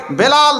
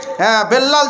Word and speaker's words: বেলাল: 30000 টাকা দিচ্ছেন মাদ্রাসাকে বেলাল শেখ বেল্লাল যদিও হয়তো লিখা হয়েছে তবে অরিজিনাল শুদ্ধ উচ্চারণ হবে বেলাল উনি 30000 টাকা দিচ্ছেন